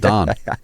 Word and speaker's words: Don: When I said dawn, I was like, wait a second. Yeah. It's like the Pittsburgh pronunciation of Don.